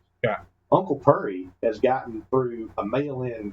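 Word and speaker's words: Pury: And, uh, this was Uncle Pur. Now, that's P U R Y, not P E R R Y. That's P U R R Y. That's Pur. That's how they say it in Kentucky.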